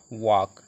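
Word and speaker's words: walk: तो वाक, डब्ल्यू ए एल के, इसको हम एल साइलेंट रखेंगे, वाक, वाक, डब्ल्यू ए के, वाक पढ़ लें, एल साइलेंट रह रहा है।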